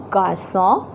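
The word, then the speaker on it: garçons: Now, did you notice that I did not pronounce the S when I was speaking in plural? In singular, it is a garçon, and in plural it is they garçon. The S is not pronounced.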